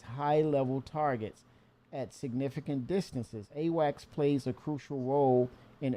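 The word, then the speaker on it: AWACS: Um there is a true military ship called Awax, right?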